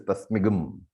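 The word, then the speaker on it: तस्मिं: But in Vedic chanting, that is given a different pronunciation. So it is tasmigam.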